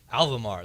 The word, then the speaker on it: Alvamar: How do you pronounce it? Alvamar, the Alvamar Country Club in Lawrence, Kansas.